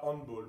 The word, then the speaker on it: handball: Et c'est pour ça qu'on dit handball et pas handball, parce qu'on prononce à l'allemande.